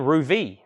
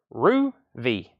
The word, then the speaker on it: Ruby: King Cole Ben Ruby Ben Ru V rhymes with TV Ruby Rue V and I think that's